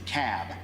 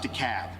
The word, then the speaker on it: Cobb: Yankees in the room it's the cab not to Cal not to cob it's cab so we got to pronounce